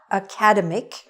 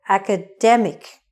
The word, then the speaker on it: academic: word it is not academic it is haka demmick the stress is on the middle academic this is an academic